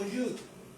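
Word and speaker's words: יוד: que las demás personas, Yod, es Yod, se escribe con O, y se pronuncia como Yud.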